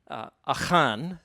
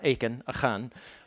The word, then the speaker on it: Achan: chosen one or traitor Jonah akan I say his name in Hebrew and um not Aiken and narrative analogy in